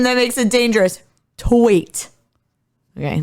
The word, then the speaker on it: Twait: Yeah, make sure you pronounce the I in that name. All right, because we're like, don't accidentally pronounce an N. We're one vowel away. What, Twaint? Taint. You got to get rid of the W.